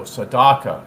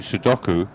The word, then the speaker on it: Sudoku: Saddaka, is that correct? How you pronounce it? You mean Sudoku?